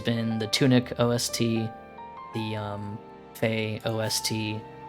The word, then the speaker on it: Fe: the Tunic OST, the Fae OST. Fae as in F-E. I don't know how people pronounce that game. I keep saying Fae, but it's probably Fee.